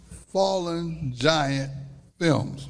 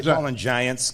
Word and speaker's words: Fallen Giant Films: Fallen giant films. Booyah. Do not say do not put a s on the giants. Don't say fallen giants because a lot of people say, "Hey, you're falling giants, aren't you?"